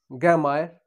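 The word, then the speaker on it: gramaire: ग्रामायर, ग्रामायर, ग्रामायर, ग्रामायर, ग्रामायर, pronounce कर रहा हूं ग्रामायर।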